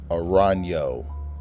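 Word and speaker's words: Arrano: you doing crime real this is how you pronounce my last name arano it is a bass surname meaning Eagle thanks once again MCA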